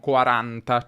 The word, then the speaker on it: quaranta: But in Italian we say “quarAnta”, “cinquAnta”, “sessAnta”, “settAnta”, “ottAnta” and “novAnta”.